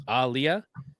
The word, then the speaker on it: Aaliyah: So it's Aliyah but like a hard emphasis on the A.